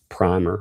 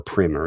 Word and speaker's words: Primer: Do you ever watch any of one of my favorite movies is the movie Primer or Primer, depending on who's pronouncing it.